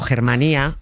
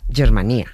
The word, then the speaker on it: Germanía: utiliza la Germanía para sustentar este poder. Lo que pronunciamos los castellanos a lo bruto como Germanía es en realidad Germanía. En Valencia Germá es hermano, Germanía, hermandad.